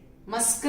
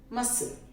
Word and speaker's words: muscle: C के पहले, C लिखने के पहले यदि S अल्फाबेट है उस वर्ड में तो C साइलेंट हो जाता है। मसल, मस्कल नहीं बोलते, मसल।